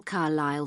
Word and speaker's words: Carlisle: Could you spell Carlisle for me? Sorry. It's Carlisle. You don't pronounce the S.